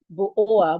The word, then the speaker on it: bourgeois: Bo-O-A.